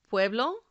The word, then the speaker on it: pueblo: The first rule: if the word ends in a vowel, N, or S, the stress is on the second to last syllable. We say these words as pueblo, bandera, hablan, tocas.